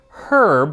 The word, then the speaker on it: herb: Just as the English say herb with a hard H, just so they don't sound like the French, even though they don't pronounce hour.